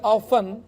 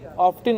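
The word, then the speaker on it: often: لوگ دیکھتے ہیں کہ آفن یعنی کہ اس کی اسپیلنگ میں ٹی بھی آتا ہے، آفٹن اس کو پڑھا جاتا ہے بعض اوقات۔ اسی طرح انگلش زبان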